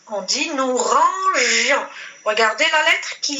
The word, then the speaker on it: rangions: Déjà, avec la lettre I, je prononce, il y a le son je.